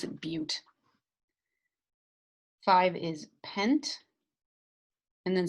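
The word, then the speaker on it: but-: butte which looks like but but it's we pronounce it butte five is pent and then some of these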